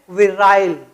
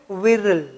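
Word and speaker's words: virile: रहा है ना, कि इसको ब्रिटिश इंग्लिश में पढ़ते हैं विराइल, विराइल, और अमेरिकन इंग्लिश में विरल।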